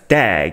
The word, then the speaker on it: DAG: of iota it's a directed acyclic graph which you can pronounce as dag used for storing transactions